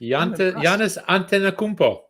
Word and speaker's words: Giannis Antetokounmpo: Giannis Antetokounmpo.